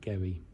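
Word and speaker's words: Garioch: shop called Gary something it is written g a r i o a c h but it's pronounced Gary so um we're asking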